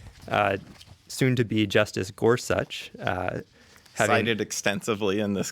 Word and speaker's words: Gorsuch: the confirmation hearings I learned his name is pronounced Gorsuch so good good to know right um but